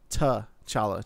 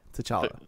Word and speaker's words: T'Challa: Isn't it like it's like T'Challa or like N'Challa? It's like something with like an apostrophe and then it's like ba. It rhymes with Coachella.